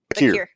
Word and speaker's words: Vaquer: I always get her name wrong. Stephanie. Bakir.